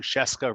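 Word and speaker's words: Scieszka: might you might know john sheska rhymes with fresca he's kind of the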